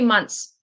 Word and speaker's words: months: So you could pronounce the t say months, but it even for me it sounds really weird. I'll say months. So it's like m u n s months. No th.